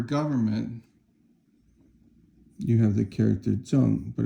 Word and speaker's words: 政: And then you have this one character here, which is called the to tap radical, and that's 正, fourth tone.